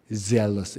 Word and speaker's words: zealous: 젤러스는 이제 질투가 많다는 뜻이고, zealous 이렇게 해야지 되죠.